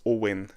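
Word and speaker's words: Eoghan: This name is pronounced Owen. Owen, like Owen. That's Owen in Irish.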